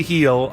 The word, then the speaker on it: Gil: So how do you pronounce Benji Gill's name, Robert? I would say Benji Gill, but, you know, Mexican people are just going to say Gil. That's what I've been saying Benji Heel.